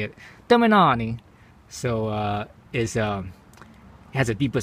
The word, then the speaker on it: Termignoni: But the reason why I got this exhaust is because, you know, this the Termignoni, that's how you say it, Termignoni.